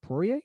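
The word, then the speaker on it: Poirier: mcgregor for his match against dustin is it pourier did i pronounce that right yeah that's it okay great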